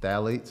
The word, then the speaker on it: phthalates: So when you turn it on the label and you see phthalates, it starts with a P. Mm-hmm. The P is silent.